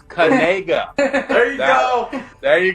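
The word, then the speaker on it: Nacua: the last name oh so this how you pronunciate it it's Noah kega you say uh kega like that see that's the key it's kga there you go there you go now we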